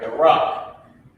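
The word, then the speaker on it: Barak: All right, the rock. That's how you pronounce it.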